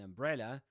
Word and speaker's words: umbrella: a funny, and interestingly, funny begins with the same vowel sound as umbrella. However, in funny, the sound is in the stressed syllable. So funny. But in umbrella, the stressed syllable is bre, right? Umbrella, the second syllable. Anyway, that's a small difference, but we've got the same vowel sound, right? So we could say that funny, fa rhymes with in umbrella. Okay, and this is the strut vowel sound on the charts.